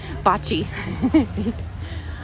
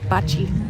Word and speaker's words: bocce: Oh, and there's the, what I was calling bocce. Bocce. Y'all have trained this Kentucky girl to say it correctly. Bocce.